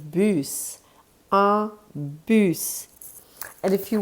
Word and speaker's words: bus: For those of you who know how to read, it's written the same way as in English, but it's pronounced bus.